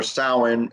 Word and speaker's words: Samhain: were celebrated know in a very spiritual context Samhain or soin as it's pronounced it's it's supposed to be much more